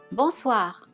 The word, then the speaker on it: Bonsoir: If it's after 6 p.m., you want to say Bonsoir or Bonsoir Madame. Bonsoir Monsieur. The OI syllable is pronounced as wa.